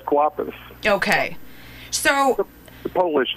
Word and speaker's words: Kwapis: Before I completely butcher your last name, how do you pronounce it? It's Kwapis.